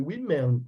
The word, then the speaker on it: women: Come on, what is the pronunciation? Women. What about this one? I would say women.